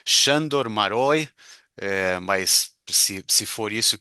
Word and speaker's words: Sándor Márai: Quando a gente fala sobre o nome do autor como Sandor Marai, assim a gente vai falar aqui. Eu li aí pela internet, eu não sei, eh, que parece que se pronuncia em húngaro, Xandor Maroi.